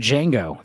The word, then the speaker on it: Django: Like Django, the D is silent.